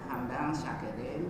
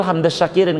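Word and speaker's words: حمدا شاكرين: Ada yang bacanya hamdan pakai fa, hamdan syakirin, ada yang pakai ditafsir hamdas syakirin. Itu yang betul hamdas syakirin kalau mau.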